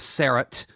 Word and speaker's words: Sarat: Her name was Sarah T. Chestnut, but she called herself Sarat.